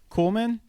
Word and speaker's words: Kuhlman: And I had done some LinkedIn searching, and I found do you pronounce the last name? Is it Kuhlman?